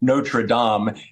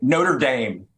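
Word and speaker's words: Notre-Dame: are finally going to learn to pronounce notredam and instead of saying Notre Dame I really really gets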